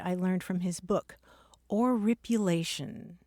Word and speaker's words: oripulation: And here's another cool word I learned from his book, oripulation. Spell that?